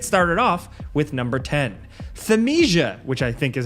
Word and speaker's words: Thymesia: Thymesia, which I think is how it's pronounced, is an action RPG set in a fantasy medieval world ridden by a plague.